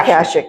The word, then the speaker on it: Akashic: So let's talk about your past and your background in Akashic Records. Did I pronounce that right? Yeah, Akashic.